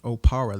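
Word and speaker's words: Okpara: my name is oppara the k is silent yes you know uh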